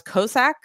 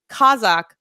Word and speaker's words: Kazakh: The narrator pronounced Kazakh as Cossack, as in the Cossacks or Cossacks. Yeah, Kazakh as Cossack instead of Kazakh, Cossack.